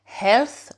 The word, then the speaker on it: health: niveau de la santé, health, la santé, health. N'oubliez pas, le H, il faut vraiment le prononcer et le TH, c'est la langue entre les dents.